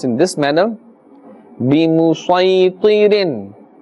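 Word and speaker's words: بمسيطر: and as we mentioned, in this example we must always pronounce the Sad and not the Seen. although we will see the seen written there. Alright, so we will pronounce in this manner. بِمُسَيْطِرٍ بِمُسَيْطِرٍ.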